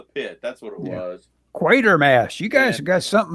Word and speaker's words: Quatermass: Quatermass. You guys have got something about wanting to change that word into quarter or quarter. You always call him Quartermass. It's spelled quarter. It's Quater. Quater.